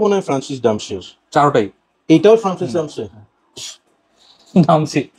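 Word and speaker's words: Demachy: এমন কিছু একটা, মানে ফ্রান্সের জানি না প্রোনাউন্সিয়েশন কেমন। আমি এর নাম বলি হচ্ছে ফ্রান্সিস ডামশি। মানে আসলে এটা ওরে জিগাইতে হবে। বানানো হচ্ছে FRANCOUCOIS, ফ্রান্সোয়াইস ডিমাশি। এখন আমরা হেনসি ক্রোনজিকে ক্রোনিয়া বলি না, তো ডামশি হওয়ার কথা হিসেবে ডিমাশি।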